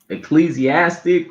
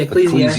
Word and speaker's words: Ecclesiastes: Uh, Ecclesiastic or Yeah, Ecclesiastes.